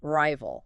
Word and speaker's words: rival: First rival. Long i sound.